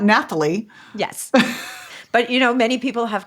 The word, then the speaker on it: Nathalie: So it sounds like Nathalie. Yes, because French people because French people have no clue what to do with H's. They don't pronounce them.